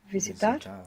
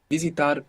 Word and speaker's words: visitar: Visitar, visitar. If you're not comfortable with the Visitar. soft P, just pronounce a V.